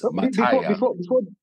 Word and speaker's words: Mataya: Mataya. Before the last question, well done. That you pronounced it perfectly.